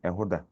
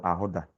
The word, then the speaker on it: Ehoda: So let's pronounce the fifth one, Ehoda. Ehoda. Ehoda. Ehoda. Ehoda. Meka. Ehoda. Yes, Ehoda. And it has been corrupted to Ahoda.